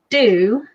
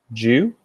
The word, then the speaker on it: dew: You say do. Your DE words are pronounced D-double-O, and we pronounce them with a J. Jew?